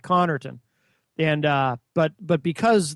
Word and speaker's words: Connarton: and eer T N because that's what it sounds like conon and uh but but